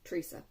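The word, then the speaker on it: Theresa: There is no H in the Teresa. It's just Teresa. Now that's how I say Teresa.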